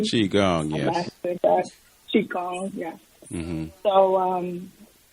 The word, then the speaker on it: Qigong: And he has in his incredible book, Ancient Future, and is a Qigong, if I'm pronouncing it correctly. Qigong, yes.